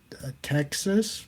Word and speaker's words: Ptyxis: It's called Texas, but it's not. It's spelled a little weird.